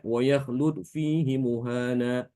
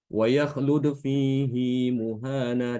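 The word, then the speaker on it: وَيَخْلُدْ فِيهِ مُهَانًا: ayat 69 surah al-furqan mereka umumnya membaca dengan pendek tanpa Silah itu Jadi dibacanya waklud fihi muhana padahal itu keliru Di sini bacaan Imam alhafaz sama dengan Ibnu Katsir diberisilah waaklud fihi muhana dipanjangkan dua harakat fihi muhana karena itu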